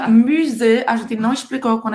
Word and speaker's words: musée: Você vai fazer a boca do U e você vai falar I. Musée. Tem 2 E's, mas esse E com acento agudo, mais um E no final, mais a letra E no final, você vai falar somente E.